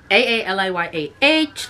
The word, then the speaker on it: Aaliyah: AALIYAH, like the singer, but it's pronounced Aaliyah.